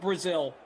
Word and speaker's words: Brazil: on in greg says his last name is pronounced like the country brazil greg brazil there you go what's